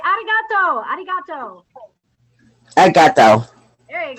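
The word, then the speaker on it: ありがとう: it is 7 59 Arigato no don't roll your tongue arigato you need to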